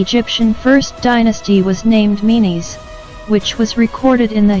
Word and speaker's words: Menes: The former is usually pronounced Men or Menes, and the latter is Narmer.